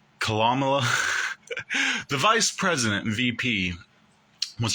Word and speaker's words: Kamala: Kamala, the vice president, VP, was on the BET